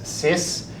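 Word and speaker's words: cis: This guy over here, we pronounce it as sis. Basically, it's a shorthand version of cos arz.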